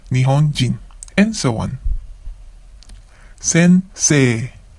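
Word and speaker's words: 先生: Sensei. Sensei. Notice that we have a long vowel at the end. Se. Okay? Sensei.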